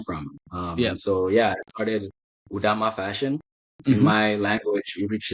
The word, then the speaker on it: Udama: It's UDAMMA. UDAMMA. Wow. Yes. Right. It's really called Udama in the language.